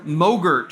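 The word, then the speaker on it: MOGRT: motion graphic temp or Moe Gert for short rhymes with yogurt a mo Gert is a self-contained file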